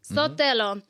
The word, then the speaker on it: Sotelo: Sotelo? Sotelo. Sotelo.